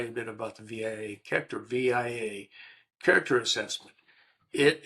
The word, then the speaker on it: VIA: It's called I I I pronounce it via.